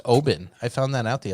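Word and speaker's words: Oban: little bay and you know what it's actually pronounced oben i found that out the other day when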